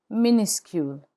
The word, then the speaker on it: minuscule: The French word for lower case is minuscule. Minuscule. Minuscule. The final S is not pronounced in minuscule.